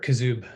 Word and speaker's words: Kuzub: Is it Kuzub? Is that pronounced correctly? Sure, Kuzub. I've heard it pronounced as well. All right. Well, very good. It's your name. I shall pronounce accordingly.